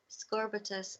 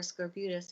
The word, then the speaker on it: scorbutus: died from this condition called scorbutus or Scorpius it can be pronounced either way and the people in